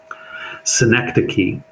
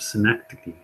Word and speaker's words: synecdoche: Synecdoche.